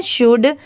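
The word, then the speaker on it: should: अब एस एच ओ यू एल डी। यह भी आपने सुना होगा शुड। बट इसे भी तो हम शुड भी तो पढ़ सकते हैं बट क्या पढ़ते हैं? शुड।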